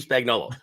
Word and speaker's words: Spagnuolo: Steve Spagnuolo.